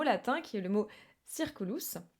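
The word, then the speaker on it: circulus: qui est le mot circolos alors qu'on devrait prononcer kirkoulou en réalité mais bon bref le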